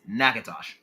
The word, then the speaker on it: Natchitoches: Pronunciation for that is Nakatosh.